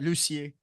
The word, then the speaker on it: Lucier: your name wrong is it lucier lucier yeah you got lucier lucier okay how you doing man I'm doing good sorry yeah I should have put French accent behind that I should have yeah